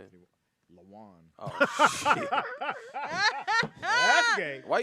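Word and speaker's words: Lawon: You think it's spelled like a Mexican? Like I think so. L.A. Juan? Juan, yeah. W. Yeah, LA. Is it Lawan? Yeah, I Yeah. believe. Say it, Ada. Lawan.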